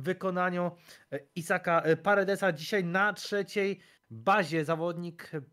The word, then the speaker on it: Paredes: Isaac Paredes. Trudna wymowa, jednak to S, nie Z.